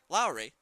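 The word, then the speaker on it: Laurie: That brings up Josh Lowry, not spelled, his last name not spelled like Jed Lowry. L-A-U-R-I-E. Lowry.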